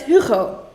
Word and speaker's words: Hugo: It's Hugo. So we pronounce the H in Dutch. It's Hugo.